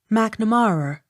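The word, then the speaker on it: Macnamara: l-y-v-e-d-o-n livedon m-a-c-n-a-m-a-r-a mcnamara accent on third syllable m a i n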